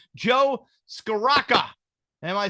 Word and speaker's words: Scrocca: So there's no L there. It's Joe Scrocca.